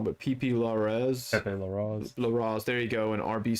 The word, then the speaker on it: Larraz: God, I'm going to pronounce his name wrong, but Pepe Larraz. Larraz, there you go, and RB Silva.